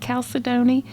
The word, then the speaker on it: Chalcedony: I think that's how you pronounce it, Chalcedony.